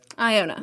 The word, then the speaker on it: Iona: Iona.